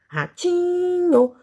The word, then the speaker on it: ratinho: Em qual sílaba eu fiquei mais tempo cantando? Ah, muito bem, no ti, ratinho. Então, a sílaba tônica dessa palavra, ou seja, a sílaba mais forte dessa palavra, é o ti.